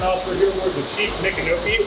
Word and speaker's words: Micanopy: here aboard the Chief Micanopy, or if you want to say it properly, Miko Hanabi. Miko is the Seminole honorific for chief, and Hanabi was his name.